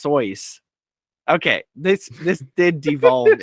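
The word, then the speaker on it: Seuss: fun fact his name is actually pronounced soyce okay this this did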